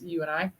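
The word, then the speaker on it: UiNi: go paranormal puzzle by u-i-n-i uh research that's how it's spelled but it's you and i as in you and me baby we're gonna get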